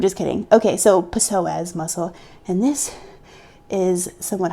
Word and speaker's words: psoas: wrong with me is my psoas. That's not how you say it, but you know, there's a P in there, and I'm not cool with just ignoring letters. I'm just kidding. Okay, so psoas muscle, and this is